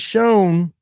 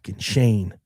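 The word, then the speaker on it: Schoen: Joe Shane has shown ever since then that he does and and first of all it's not Shane, it's pronounced shown.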